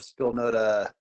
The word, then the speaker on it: Spilnota: Spil, as in like spilling a drink, and then nota as in like a notebook, but with an A at the end.